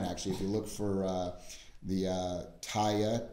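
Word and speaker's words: Teye: If you look for Taya, T-E-Y-E is how the company's pronounced.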